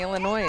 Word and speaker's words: Illinois: a true Pike County Illinois and Flint Hill gotta work it in every now and again exactly you don't really pronounce the s in there no balls two